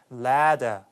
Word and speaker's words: ladder: 그래서 함정으로 잘 나오는 것 중에 하나인데 근데 여기서는 영국식 발음이기 때문에 사다리는 ladder 이렇게 발음되고 서신은 letter 이렇게 해서 그 D하고 T 발음이 정확하게 구분돼서 발음되기 때문에 조금 이제 구분하기 쉬웠습니다.